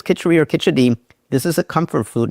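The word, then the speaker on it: Khichdi: I heard it as Kitcheri, K-I-C-H-E-R-I. But I believe the official pronunciation is Kitchedi with a D.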